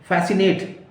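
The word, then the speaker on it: fascinate: फैसिनेट, FASC, आपका यहां नहीं आएगा, सी आप बोला नहीं जाएगा, लिखा तो जाएगा, तो उसको क्या बोलेंगे? फैसिनेट, FASCINAT, फैसिनेट, right.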